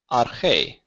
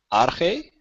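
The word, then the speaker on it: ἀρχή: Notice when I say it, the stress falls on the syllable or the letter that has the little accent mark. So it's not arche, it's arche.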